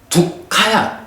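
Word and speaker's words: dukkha: 그래서 고는 두카야, 두카. K가 하나 발음으로, 그러니까 받침으로 들어가. 두카.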